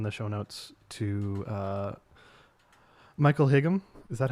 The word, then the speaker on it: Higham: a link in the show notes to Michael Higham. Is that how you pronounce it? I've never known. Hyam? Hyam.